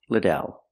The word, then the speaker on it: Liddell: you pronounce your last name I answer it's pronounced Liddell let's practice how do you pronounce your last